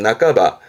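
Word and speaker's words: 半ば: 훈독으로는 나까바. 나까바라는 건 절반, 말 그대로 절반을 말하기도 하고 어떠한 중반, 중순, 예를 들어 5월 중순, 고가츠 나까바, 고가츠 나까바 하면서 중반, 중순도 말하기도 하고 왼쪽에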